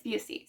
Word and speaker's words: Busey: pronounce her last name I've been pronouncing it busy this entire time it's busy so now I know I